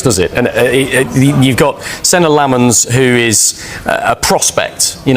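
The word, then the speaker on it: Senne Lammens: of the window, but United opted to sign Senna Lomans instead.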